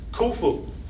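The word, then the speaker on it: Khufu: I like kufu because his name rhymes with my name kulu.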